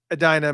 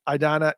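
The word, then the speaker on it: Edina: the Washington Avenue Warehouse in Adina Minnesota I think that's how you pron pronounce it Adana e d i n a um and anyways this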